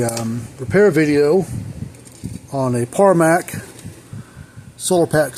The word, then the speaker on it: Parmak: repair video on a parmac solar pack 6 parmax P MK parac not Paramount paramark parar parmac how they that's how that's spelled that's how they pronounce it at the factory anyways this is a